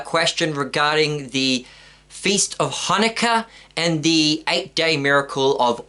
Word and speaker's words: Hanukkah: as it's correctly pronounced, Hanukkah. Because it's not actually a hey, which is our H in English. It's actually a letter Cheth in Hebrew, which gives the ch sound. So it's actually Hanukkah.